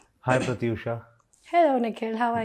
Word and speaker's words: Pratyusha: देखो, बैंगलोर में थ आ जाता है, प्रत्युषा हो जाता है। प्रत्युषा, हाँ, यहाँ कोलकाता में अलग प्रोनाउंसिएशन है, वहाँ पे प्रत्युषा है।